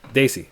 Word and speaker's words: Desi: Desi is pronounced DIY. Sorry, Daisy.